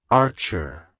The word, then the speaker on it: Archer: of being a Bowman it's pronounced as Archer Archer Archer to pronounce it correctly emphasize that AR sound and end with a soft are like hello Archer goodbye